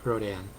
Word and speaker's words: Rhodan: wrote it I know Americans tend to pronounce it Rodan Europeans tend to pronounce it rodent so I'll go with